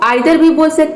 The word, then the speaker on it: either: आप इसे 'either' या 'eether' दोनों तरह से उच्चारित कर सकते हैं। दोनों उच्चारण सही हैं।